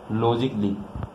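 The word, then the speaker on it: logically: कायोटिकली word आपका, आपका अगला वर्ड है लॉजिकली, लॉजिकली, ठीक है।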